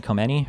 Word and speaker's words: Khamenei: Um Assad uh How do you say Sayed Khamenei or whatever?